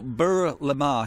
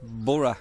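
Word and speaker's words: Burgh le Marsh: We're 20 minutes away drive away from Bora. It's not even that's 10 minutes. 10 10 minutes. Um, so it's pronounced Bur Bur Lamar is how it looks like, but Bur Lamar is actually Bora is how you say it.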